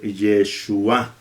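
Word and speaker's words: ישוע: y la letra G, que es muda y que, como lo voy a ver, me ayuda para que la pronunciación sea al final, para que el acento sea al final.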